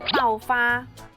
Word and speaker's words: 爆发: Bahasa Mandarin dari meletus itu paufa.